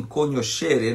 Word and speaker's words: cognoscere: Cognoscível vem de cognoscere, em latim, conoscere, né? na pronúncia eclesiástica.